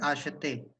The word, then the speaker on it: acheter: La pronunciation est acheter, which means to buy.